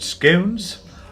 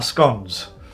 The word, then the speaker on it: scones: You can pronounce it scones or scones.